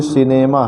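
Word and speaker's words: cinema: सिनेमा में यहाँ सी के बाद आई आया है, इसलिए यहाँ सी को स पढ़ा जा रहा, सिनेमा।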